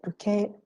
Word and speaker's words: bouquet: barbarism as well so bouquet came from french and it was not assimilated at all it is pronounced as it is pronounced in french so actually this is